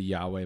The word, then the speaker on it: Yahweh: say when you breathe it's yah way like you're saying Yahweh no it's like like that's actually the uh what's the term the inflection of the inflection or I don't know if it's the syllables but people say as you breathe the ACT it's actually